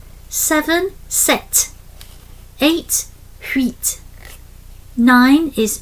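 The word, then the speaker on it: sept: Seven set.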